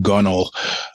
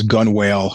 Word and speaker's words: Gunnel: out by then, but it's called Gunnel, which most people mispronounce as Gun Whale, which cracks me up.